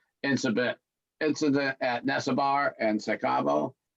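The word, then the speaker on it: Se a Cabo: Incident at Nesabar and Secabo. I can pronounce it good. Seat Cabo. Say Cabo. Yes, there we go.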